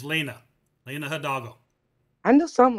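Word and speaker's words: Lina: It's not Linda, it's Lena.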